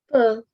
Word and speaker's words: peu: If there is any difficulty pronouncing them, no problem, because they will come gradually. The first word is pronounced as P. Peu.